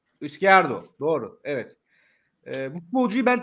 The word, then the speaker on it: Izquierdo: Eski Derdo. Doğru mu? Nasıl bir telaffuzu var? Izquierdo. Izquierdo.